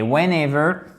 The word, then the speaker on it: whenever: Whenever, whenever, accent tonique ici, chers amis, sur le deuxième E.